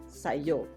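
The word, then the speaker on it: sa iyo: always hear Sayo so when sa and EO are put together in a sentence Filipinos pronounce only the second syllable in EO so you only hear yo so the whole phrase prepositional phrase using you say yo so you will encounter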